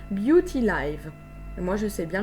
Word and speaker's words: Beauty Live: Se prononce à l'anglaise Beauty Live et non pas Beauty Live. Pardon. Voilà, donc c'est bien Beauty Live.